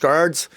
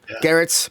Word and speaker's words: Gerads: cover signed by Mitch Gerads. Uh Gerads or I apologize. I always say it wrong, but Gerrets. Mitch Gerrets.